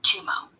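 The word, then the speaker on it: gtum mo: to awaken spiritual insight in Tibetan it's called G2M O pronounced roughly tumo rooted in the completion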